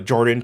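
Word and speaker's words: Jorphdan: of lore like uh jordan ph is silent he does that a.j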